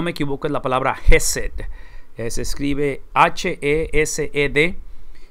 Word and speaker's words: Hesed: La palabra en el hebreo, si no me equivoco, es la palabra Hesed. Se escribe H-E-S-E-D y es el amor de Dios que describe lealtad, que describe un amor el cual continúa persiguiendo al hombre.